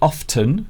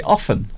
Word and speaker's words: often: well some people say often some people say often yeah both are acceptable and it's not just